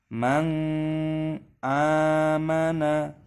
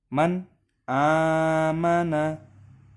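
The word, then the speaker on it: مَنْ آمَنَ: Semisal mang amana, itu tidak boleh. Kenapa? Karena di sini ada hukum idhar yang harus dibaca jelas. Mana? Ini ada nun sukun ataupun nun mati bertemu dengan huruf alif. Cara membacanya jelas, man amana.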